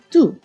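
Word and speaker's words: դու: And also with the pronunciation of you. In Eastern Armenian, du. In Western Armenian, tun. Du hayes, tun hayes. You are Armenian in each dialect.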